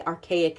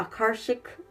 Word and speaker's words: Akashic: to say it wrong I want to say archaic and it's not archaic the Akashic it completely just left